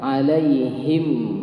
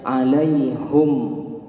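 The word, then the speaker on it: عليهم: Ya, ada beberapa suku Arab atau kabilah Arab itu yang nggak bisa mengkasrahkan haknya, alaihim, maka mereka membacanya alaihum.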